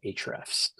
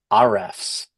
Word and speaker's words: Ahrefs: people uh pronounce it hrefs so they kind of uh it's a silent a yeah or we have had people call it RFS which made me laugh